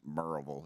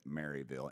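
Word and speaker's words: Maryville: it would what post where is it sir marville it's pronounced merille if you're from there but it's you would pronounce it marville m a r y v i l l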